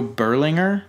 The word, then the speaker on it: Berlinger: Which is weird because this is the guy who directed this, Joe Berlinger, I think is how you pronounce it.